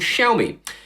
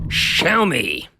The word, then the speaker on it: Xiaomi: This is supposedly the equivalent of Samsung's SmartThings Hub, but it's made by a company called Xiaomi.